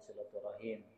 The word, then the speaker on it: silaturahmi: Ada yang mengatakan beda makna silaturahmi dengan silaturahim. Ada ulama yang mengatakan sama aja, hanya pelafalannya ketika secara ejaan disebutnya silaturahmi. Min haisul qiyasi, kalau dari segi tulisan silaturahmi, tapi ketika dilafalkan dibaca silaturahim dalam talaffuznya. Ada yang mengatakan beda lagi,